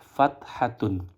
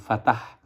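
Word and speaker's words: فتحة: Untuk memudahkannya boleh disebut dengan fathah, tapi aslinya adalah fathatun. Maka boleh ketika nanti dalam tahap mengejanya disebut dengan fatah demi memudahkan dalam pelafalannya. Yang penting tahu bahwa aslinya adalah fathatun. Karena telah memasuki bagian yang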